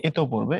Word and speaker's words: ইতোপূর্বে: হয়েছে বুঝছো এই যে এত পূর্বে এবংটা লেখার কথা বলা হয়েছে এবং উচ্চারণের যে টপিক সেখানে পড়লে দেখবা উচ্চারণ হচ্ছে এতো পূর্বে তো এজন্য এটা কোন